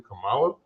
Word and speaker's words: Kamala: She's checking people on mispronouncing her name. Finally. Yeah, he keeps messing up. And he's like, it's actually Kamala.